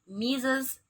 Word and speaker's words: Mr.: Haryo, Mrs. Endang. Oke, apabila ada nama, sebelum nama ada kata MR, itu berarti bacanya Mr.